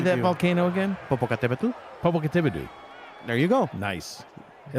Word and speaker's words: Popocatépetl: Popocatépetl.